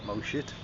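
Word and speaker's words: Mo Chit: have to go through a place called mosit and uh although that sounds like you're taking the pee out of a beloved Simpsons character that really is how you say it moit and uh out of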